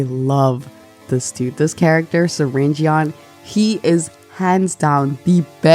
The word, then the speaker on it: Syringeon: Syringe, prepare yourselves, because I'm going to call him Syringe. I'm not calling him Surgeon. Like, that is not how you... that is not how you spell it.